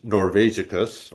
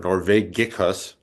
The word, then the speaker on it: Norvegicus: That its actual title is Rattus Norvegicus or Norvegicus. I suppose in ancient Rome they would have had a hard G.